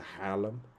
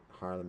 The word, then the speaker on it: Harlem: all the way to Harlem Harlem is not pronounced like that but Harlem um it's also a Dutch word so there we go